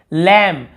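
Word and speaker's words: lamb: यहाँ पर देखिए लैम, लैम यानी होता है भेड़, यहाँ पर भी हम बी को नहीं पढ़ रहे, केवल लैम पढ़ रहे हैं।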